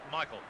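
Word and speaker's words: Michel: Incidentally, his name is spelt M-I-C-H-E-L, but he prefers Michael.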